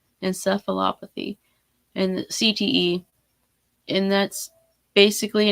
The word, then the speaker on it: encephalopathy: And so that was something that I kind of wanted to talk about, was chronic traumatic encephalopathy, which I said it right. Yay. I always mess that word up. Encephalopathy.